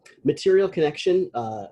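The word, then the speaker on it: Material ConneXion: Material Connection, it's spelled strangely, CONNEXION.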